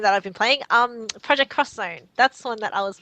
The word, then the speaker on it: Project X Zone: I've been playing um project cross Zone that's one that I was playing for a while cross Zone yeah so it's project it's written as project xzone but you pronounce it project cross zone so it's that um